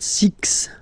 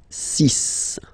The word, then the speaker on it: six: Sis okay so it's not six it's sis all right then here